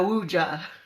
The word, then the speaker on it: Ouija: So a Ouija board, it's spelled O-U-I-J-A, Ouija board. It looks like a Ouija board, but it's pronounced Ouija board.